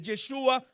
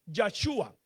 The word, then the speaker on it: Yeshua: entre ellos también controversias si es Yeshua o es Yahhua, si es con la E o es con la A.